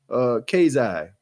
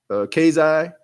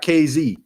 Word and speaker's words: Kazai: Hey, yo, my name is pronounced Kazai. Okay. Kazai. Okay. Not KZ. Kazai.